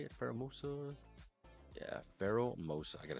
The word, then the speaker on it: Pheromosa: Yeah, Pheromosa.